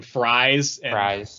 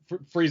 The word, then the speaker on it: Freeze: talking to Mr Freeze yeah he just keeps pronouncing his name fries like no it's not it's like that's what I'm saying and he's like freeze is like no no it's freeze and he's